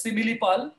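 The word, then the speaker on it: Similipal: now i'm moving to simlipal people write it uh actually if you it is pronounced as simile so there should be an i after an m if we are looking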